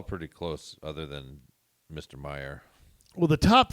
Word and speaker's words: Mayer: Now, the fourth person is this Timothy Mayer. Yes. Meyer? How do you say that? Yes. Meyer. Well, here's what's interesting.